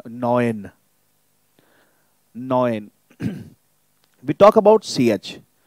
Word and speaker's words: neun: EU is going to be pronounced as OE as in boy or toy. OE. Okay, so like we have our number 9, neun.